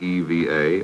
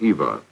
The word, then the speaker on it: EVA: for extra vehicular activity some were uncertain whether you said eve EA or Eva but regardless of the pronunciation it would become an